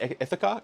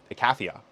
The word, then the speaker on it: Icathia: So this card is the Fall of Ithaca, or Icatha, Icathia. I watched the Odyssey recently, so I'm pronouncing it slightly wrong.